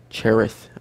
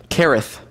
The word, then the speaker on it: Cherith: flows into the jordan cherith i think i'm pronouncing that right kerith i believe is how it's supposed to be pronounced and it will be